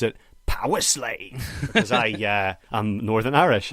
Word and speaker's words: Powerslave: Which is Powerslave, as I pronounce it, or as Bruce Dickinson pronounced it, Powerslave.